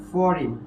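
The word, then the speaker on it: foreign: জি এন কি কোন ওয়ার্ডের শেষে যদি আমরা দেখি যে আই জি এন আছে তাহলে সেটা উচ্চারণ হবে কি আইনের মত উচ্চারণ হবে কি আইনের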